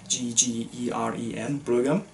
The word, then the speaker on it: Bryggeren: So in 2013, Tobias, who ran the beer brand Bryggeren, which literally translates into English as the brewer, and again this one really shows how difficult Danish pronunciation is, B-R-O-G-G-E-R-E-N, Bryggeren.